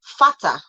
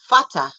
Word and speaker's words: Vater: That's the V in English, which is foul. It sounds like F in father.